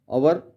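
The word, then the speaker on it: hour: form X रे आवर एच ओ यू आर यहां पर H silent रहता है और हम अवर प्रोनंसिएशन करते हैं अन कहते नेस्ट एच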